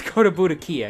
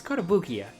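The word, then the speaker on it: Kotobukiya: go to bukia what the is koda budakia it's kodabukiya sorry sometimes i have a hard time reading japanese phrases phonetically like that come on damn it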